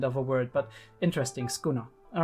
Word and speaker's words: Sukuna: um the all right so it's skuna you um basically uh basically the first U is silent which is often the case in in Japanese um actually generally it's